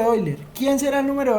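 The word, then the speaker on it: Euler: hoy se escribe así no es el número de boiler entonces el número oyler quién será el número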